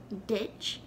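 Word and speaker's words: duit: of your throat which now the first way i said it ditch is that word there that's spelled d-u-i-t the second way i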